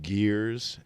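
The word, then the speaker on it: ger: And then in Mongolia, northern China, and possibly Siberia, Russia, I think they're called jeers. Jeer, I think, is the proper pronunciation. But some people pronounce them gears and a gur.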